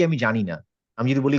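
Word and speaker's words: ج: চলে আসলো আসলে আসলে আসল উচ্চারণ কোনটা আসল উচ্চারণ হচ্ছে জ সো আমাদের জই শেখা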